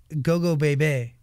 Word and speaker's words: Gogobebe: A song like Go Go Bebe.